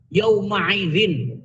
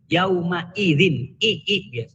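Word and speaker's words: يومئذ: HAM jadi bacanya nih bukan yaumaidzin bukan yaumaidzin yawma-idzin persis sama dengan ah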